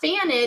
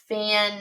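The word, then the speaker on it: fanned: No, not fanid. Because it only says it if it ends in a d or t. Fand. Because I felt that vibration. It's going to make the d sound at the end.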